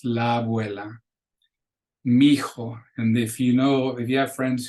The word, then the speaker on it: mijo: son, or mija, and they'll actually, when they're being cute, they'll just spell it M-I-J-A, skip the H and the other I, because that's how they pronounce it.